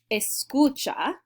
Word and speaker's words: escucha: right there this word escucha i know it looks like scooch it means listen that's